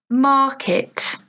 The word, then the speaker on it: market: So listen, market, market. So 2 syllables, market, but the stress, the emphasis is on the first syllable, market.